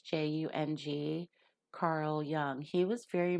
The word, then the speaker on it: Jung: It looks like it's spelled Jung, but it's Jung.